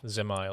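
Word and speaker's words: Dzemael: i say in uh well dismal darkhold uh zemail is how it's pronounced and um it the final boss is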